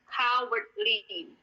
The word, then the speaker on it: cowardly: Cowardly. Kita bacanya cowardly. Kenapa K? Karena CO, jadi bacanya K. Sama dengan kalau teman-teman ingat bahasa Inggrisnya sapi, COW kan, itu bacanya kan cow.